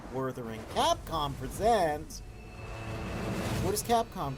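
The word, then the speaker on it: Wuthering: Yes, it's Jeff here, so we got to pronounce it how he pronounces it. Worthering.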